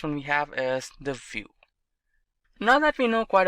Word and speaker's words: Vue.js: mainly focused on The View part of the web application and hence it's bit faster when compared to angular which is a complete web application solution vue.js is commonly referred to as View and pronounced as vuejs